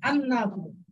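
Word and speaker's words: النافذة: নাফিজাতুন জানালা এর শুরুতে আল আসলে লামটা উচ্চারিত হবে না কারণ নুনটা হুরুফে শামসিয়া আন নাফ।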